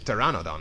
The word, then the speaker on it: pteranodon: It's pterrannodon now. The bee is silent.